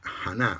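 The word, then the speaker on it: חנה: Y Ana, en hebreo se escribe Haná, o sea, H primero, A-W-N-A-H.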